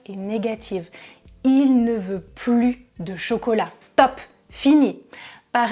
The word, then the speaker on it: plus: Je ne prononce pas le S parce que la phrase a un sens négatif. C'est une négation. Je peux dire « il ne veut plus de chocolat » avec la double négation.